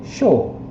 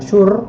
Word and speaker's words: sure: Kemudian Fumio bilang show. Jadi ini cara bacanya bukan sure gitu ya, tapi show gitu ya, show.